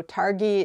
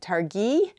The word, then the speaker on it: Targhee: confusing to me, because I would look at it and I would think it's a two-syllable word. In English, you tend to put the emphasis on the first syllable for a noun. So Targhee is what I would just say automatically.